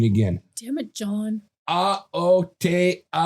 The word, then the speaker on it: Aotearoa: A-O-Te-A-Ro-A.